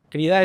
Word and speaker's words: Crida: Crida es el oficial. Sí. Pues todo el mundo lo dice mal.